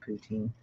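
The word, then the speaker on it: poutine: all sorts kinds of poutin oh good I pronounced it right then yeah oh that's a relief actually like like the Russian leader yeah we're talking about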